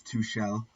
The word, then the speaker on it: Tuchel: I have learnt the pronunciation. It is Tuchel.